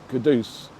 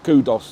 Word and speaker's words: Kudus: Yeah, I definitely think they should know that his name is Kudus. Starboy. Yeah, Starboy, not Kudus or anything like that, because we're East End